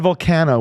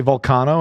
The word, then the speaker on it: Vulcano: You said Vulcano, which is the way that we pronounce it, but I say most people will say Vulcano, and I'm like, all right, I never correct anybody.